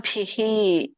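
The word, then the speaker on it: ಭೀಃ: ಮತ್ಪರಹ ಪ್ರಶಾಂತಾತ್ಮ ವಿಗತ ಬಿಹಿ ಉಚ್ಚಾರಣೆ ಹೇಗೆ ಬರುತ್ತೆ ನೋಡಿ ಪ್ರಶಾಂತಾತ್ಮ ವಿಗತ ಭಿಹಿ ಭಿ ಬಿ ಬಿಹಿ ಅನ್ಬೇಡಿ ದೊಡ್ಡಭದ ಬಿಹಿ ಮತ್ತೆ ಇಲ್ಲಿ ಹಿ ಯಾಕೆ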